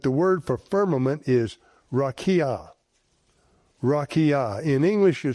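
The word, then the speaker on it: raqia: number 7459 that the word for firmament is rakia. Rakia. In English, you spell that R a QA.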